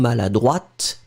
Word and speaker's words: maladroit: pronounce it slightly differently, because maladroit, masculine, final T not pronounced. And then feminine form, maladroite, you will pronounce it.